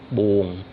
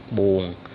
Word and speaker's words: buồn: Pay attention here. Buồn, buồn is the way the people who come from the south they pronounce, but actually it is buồn, buồn, buồn, because that's U-O-N, not U-O-N-G.